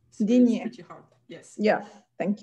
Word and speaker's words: Digne: How do I pronounce it? Digne. Digne.